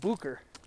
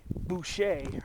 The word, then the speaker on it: Boucher: r see it's spelled the name of the peak is spelled b o u c h e r but it's pronounced Booker I when I first